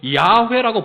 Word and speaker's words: 야훼: 그런데 공동번역에는 원래 히브리 발음대로 야훼라고 번역이 됩니다. 야훼.